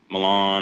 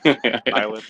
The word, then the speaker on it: Milan: I mean, you know, we're going to go run the IH this weekend in Milan or however they pronounce that name. Milin. Yeah.